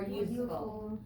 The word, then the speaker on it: useful: more useful. Useful. So we don't pronounce the E though, we just say useful.